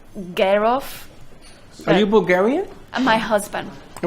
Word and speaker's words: Jarove: Jur or Gur? Girl. Original from Bulgaria, you pronounce it Gerov.